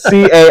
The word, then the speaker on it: Cairn: It's not spelled like the woman's name, Karen. It's Cairn.